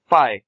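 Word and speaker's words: φ: इस तरह से इसको प्रोनाउंस किया जाता है फाई।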